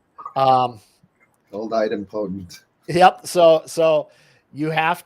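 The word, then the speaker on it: idempotent: hear different people pronounce it differently i've always pronounced it item potent but but adam potency of your receivers of your consumers of the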